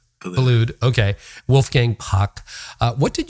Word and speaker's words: Boulud: I'm going to get some of the pronunciation wrong here. Daniel Boulud, is it? Or how do you say his name? Boulud.